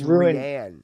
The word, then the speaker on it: Rian: But and you mispronounced his name. It's Oh, I mean, it's Rian.